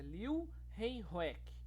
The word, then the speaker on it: Leeuwenhoek: Leeuwenhoek, na verdade o nome dele é meio estranho de pronunciar e até às vezes eu erro, mas é Leeuwenhoek.